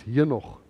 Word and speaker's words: Henoch: And for the Afrikaans people, it's Henoch. The English people can't pronounce the H, so we pronounce it for them. So it's Henoch, which is what's supposed to be, but they just say Enoch.